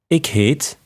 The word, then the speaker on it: ik heet: introduce ourselves in Flemish to say my name is you say a Kate I would say for example a Kate and I would